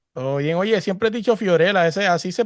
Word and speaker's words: Fiorella: Siempre he dicho Fiorella, ¿así se pronuncia?